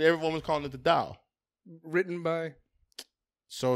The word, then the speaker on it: Tao: It's T-A-O, but it's pronounced Tao.